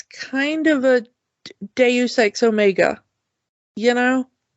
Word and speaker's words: Omega: It's Omega. It's not Omega.